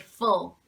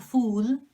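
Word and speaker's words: -ful: another word so this in adjectives is always pronounced like full it's not fool that's full full so right so we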